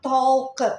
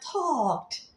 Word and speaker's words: talked: tambahin Ed tulisnya talket memang Tapi bacanya bukan talket bacanya talked talked cuma oke itu semua